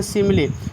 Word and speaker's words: simile: सिमली school पढ़ते हैं, सिमली SIMILE, last में ई का उच्चारण छोटी होगा।